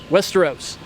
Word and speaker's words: Westeros: Is that how you pronounce it? Westeros or Westeros? Westeros.